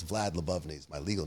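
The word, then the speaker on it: Lyubovny: I've never pronounced it. I've seen a bunch of that. Lebovny.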